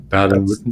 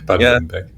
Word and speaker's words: Baden-Württemberg: So I don't know the English pronunciation. Baden-Württemberg. That's it. Baden-Württemberg.